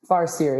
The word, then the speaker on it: Farseer: Can you just pitch us first, Farseer, or did I pronounce it correctly, actually? Farseer, yeah, you've said it right.